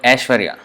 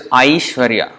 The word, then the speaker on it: Aishwarya: Sometimes in Hindi they may pronounce it Aishwarya, a. Instead of a, not a, they don't say Aishwarya, but Aishwarya, ash. So in Sanskrit that is considered a mistake. In Sanskrit it's Aishwarya, I.